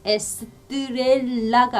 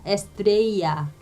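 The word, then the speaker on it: estrella: 그래서 단어를 좀 보면요, 이게 에스트렐라가 아니라 에스트레이야.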